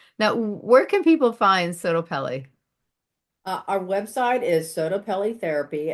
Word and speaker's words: SottoPelle: Now, where can people find SottoPelle? Our website is SottoPelle Therapy, and I'll spell it because it's a tricky one.